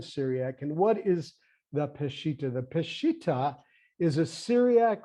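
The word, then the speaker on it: Peshitta: Peshita.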